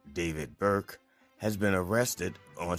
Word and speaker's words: D4VD: Singer D4VD, pronounced David Burke, has been arrested